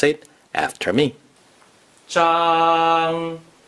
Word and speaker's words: 張: Zhang is the first tone. Please pronounce it after me. Zhang. Zhang.